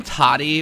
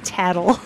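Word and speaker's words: Tatl: of them named tail is the other name toddy or did i make that up toddy hot toddy uh it's tattle tattle okay tattle and tail yeah i can't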